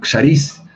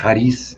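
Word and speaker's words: χάρις: un cierto contenido emocional y saris realmente sería con equis pero suele durar 33 a haris en la pronunciación griega que sería agradecimiento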